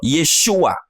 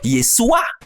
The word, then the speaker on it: Yeshua: n'arrivaient pas à prononcer or le sang che qui se trouve dans chibolet se trouve aussi dans Yeshua le son che voyez-vous donc ceci montre par exemple que ce des frimite sur la base de ce texte ne pouvait pas prononcer Yeshua il prononçait donc yesua or yesua ce n'est pas Yeshua est-ce qu'on s'est fait comprendre